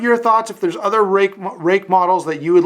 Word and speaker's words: Ruike: pronounced it, sort of Ruike or something, but it is rake with a bit of an H sound at the end.